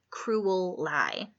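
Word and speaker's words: Crewel Lye: out pretty much since cruel lie which incidentally is spelled CR e WL ly e cruel lie another pond most of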